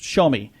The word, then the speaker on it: Xiaomi: It's called the Xiaomi, and it's spelled Xiaomi, but it's pronounced Xiaomi.